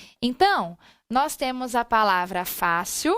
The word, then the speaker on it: fácil: observada dentro da palavra fácil eu tenho aqui fácil a sílaba tônica qual é o fá só que a palavra